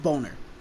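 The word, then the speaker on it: Bohner: We got the amazing conclusion to the Quicksilver arc to reveal that his last name rhymes with boner.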